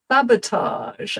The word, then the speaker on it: sabotage: Why is this an exception to the edge rule? Why? I think this word is of French origin and that's probably why it's an exception. Let's check this. Um, is sabotage a French word originally? Yes, it is. It's a a French loan word.